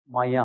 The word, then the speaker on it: Maillard: And then in 2013, this French person, pronunciation is Maya. It's not Maillard, it's Maya.